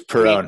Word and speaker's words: Piron: I'm really bad at pronouncing. No, it's Piron.